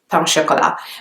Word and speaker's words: pain au chocolat: The pronunciation is quite close to the French pronunciation actually. It's not that different, it's just pain au chocolat.